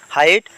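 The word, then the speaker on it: height: জি মানে সাইলেন্ট বর্ণ হাইট হাইট মানে উচ্চতা ইয়াতে জি মানে জি হইছে সাইলেন্ট বর্ণ লেন্থ লেন্থ মানে দৈর্ঘ্য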